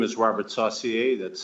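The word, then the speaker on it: Saucier: My name is Robert Sashier. That's spelled S A U C I E R.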